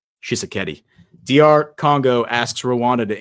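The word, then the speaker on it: Tshisekedi: Shisakeeti.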